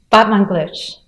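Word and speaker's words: Batmanglij: Batmanglish.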